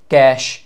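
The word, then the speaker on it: cache: যেমন কারা কারা আছে প্রাইমারি স্টোরেজের মধ্যে, র্যাম, ক্যাশ। এটা কিন্তু ভাই এটা স্পেলিংটা হচ্ছে, এটার প্রোনাউন্সিয়েশনটা হচ্ছে এরকম, ক্যাশ। এটা কিন্তু টাকার ক্যাশ না, ঠিক আছে?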